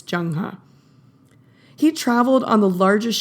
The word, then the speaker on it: Zheng He: Asia and East Africa by the way it's spelled zhe e ng h e it looks like zheng he but i promise it's jang huh he traveled on the